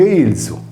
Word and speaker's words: Ilia: In quest'ultimo caso, la voce è scritta Ilia, come la città di Ilium o Troia, che si legge Ilzu, da cui il popolo sardo degli Ilienses o Ilzesos.